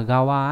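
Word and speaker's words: 側: Bình thường thì cái chữ đấy nó hay đọc là gawa ấy, thế nhưng mà có trường hợp nó vẫn đọc là soba, nghĩa là bên cạnh.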